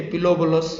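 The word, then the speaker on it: Pilobolus: P silent है, लोबोलस। Okay, पिलोबोलस या लोबोलस बोलो।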